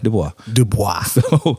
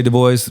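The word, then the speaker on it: Du Bois: is a debatable thing I lean towards the French pronunciation as I do with my own last name which is why I say Roche and why I say Dubois but it's if you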